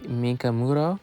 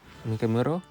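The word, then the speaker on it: Mikimoto: I'm pronouncing that right? Okay. M I K I M O T O. Okay. Mikamuro. Mikamo.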